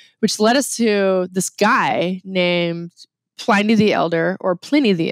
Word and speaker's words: Pliny: It is a long I with one consonant. So that is why we call it Pliny with a long I.